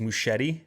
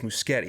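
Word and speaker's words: Muschietti: i think for years i've been saying is moushetti but it's muscati that's how you probably pronounce it guillermo says does he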